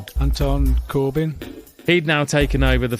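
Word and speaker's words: Corbijn: Anton Corbyn.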